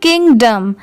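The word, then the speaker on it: kingdom: इन द किंगडम, KING किंग हो गया, और DOM डम। यहाँ पर डॉम नहीं पढ़ेंगे, किंगडम नहीं, इसके साउंड डम की आएगी, तो इन दोनों को साथ में मिला देंगे तो किंगडम।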